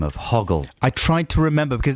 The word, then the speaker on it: Hoggle: about the fact that bowie keeps getting his name wrong and uh good excuse and we uh we just really hoggle right yeah we were calling him coggle in fact bowie calls him bowie calls him coggle in the film and